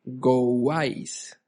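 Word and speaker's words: Gouais: Ya les voy a decir cómo se escribe. G o u a i s gois.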